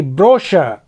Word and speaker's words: brochure: BROCHURE, ब्रोशर, ब्रोशर मतलब विवरण पुस्तिका।